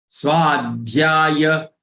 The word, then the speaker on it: स्वाध्याय: Swadhyaya, swa, take it long. Swadhyaya, swadhyaya.